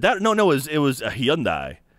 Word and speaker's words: Hyundai: Yeah, and I said, well, it's Hyundai in America. Yeah, but it's... Okay. And so? Yeah, it's just weird. It's just a weird mentality, isn't it? Well, when Hyundai pronounces it... When the company Hyundai pronounces it Hyundai in America and Hyundai in other countries...